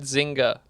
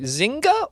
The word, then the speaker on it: Zynga: Take-Two has acquired Zynga, the second biggest deal in games history. Zynga or Zynga? Zynga. Zynga. I think you pronounced the G, yeah. Zynga.